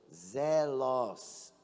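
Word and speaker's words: ζῆλος: É uma palavra no grego que quer dizer que que se pronuncia zelos.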